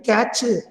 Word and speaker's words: catch: Okay, நிறைய பேர் எக்ஸாம்ல writing கேட்ச் CATCH. Okay, it is not a cache.